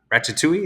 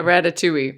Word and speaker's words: Ratatouille: Eddie recognizes him and because he's a huge fan of Ratchet or uh Ratchetoule. Is that how you say it? Yeah, Ratatouille. Mhm.